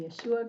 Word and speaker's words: Yeshua: I call him Yeshua because that's the proper Hebrew pronunciation of his name, and Aramaic actually too.